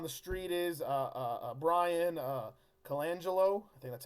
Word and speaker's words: Colangelo: people word on the street is a Bryan Colangelo that's how you say his name you know